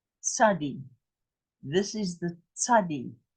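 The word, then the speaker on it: צדי: Tzadi. Tzadi. This is the tzadi. It's a TS. When you not, have a, yeah, it's not TZ, it's TS.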